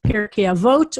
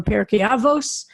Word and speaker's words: Pirkei Avot: It's traditional between the holidays of Passover and Shavuot to study the ethics of our ancestors, Pirkei Avot or Pirkei Avos, as he pronounces it.